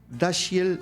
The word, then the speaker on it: Dashiell: último milagro nominada el año siguiente al premio dashiell así se pronuncia y el hummer exacto a la mejor